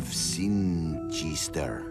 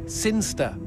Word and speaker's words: Sinchester: But Elliot Thomas was still stuck down on Earth, in the boring town of Sinchester. Sinchester. Sinster. What? It's pronounced Sinster. How do you know? My cousin's from Sinster.